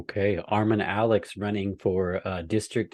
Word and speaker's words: Armon: My username is at Armon Alex. And the easiest way to remember my name is my arm is on, and that's exactly how you spell it, arm on Alex.